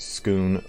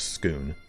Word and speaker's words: Scone: wanted to unify the entire island so it's pronounced skoon like cone scone i've never heard that root's rock it's always been i've always heard it as schoon if if anyone who if anyone wants to